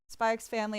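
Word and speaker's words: Spy × Family: Spy X Family, I do pronounce the X.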